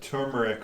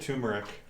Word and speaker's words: turmeric: impressed that you said turmeric right is it pronounced the the first R is that pronounced yeah turmeric I said tumeric turmeric turmeric and then